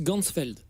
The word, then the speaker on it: Ganzfeld: Et en allemand, champ entier ça se prononce Gunsfeld.